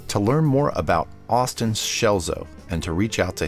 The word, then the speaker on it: Scelzo: creative strengths podcast to learn more about austin schelzo and to reach out to him i recommend